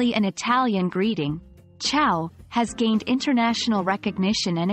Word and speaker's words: ciao: city cafes when saying ciao the sea sounds like CH in chocolate and the iao is pronounced like the word how it's fun easy and